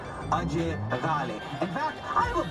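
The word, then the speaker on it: Ajay Ghale: AJ Gale. Or as we all pronounce it properly, Ajay Gale.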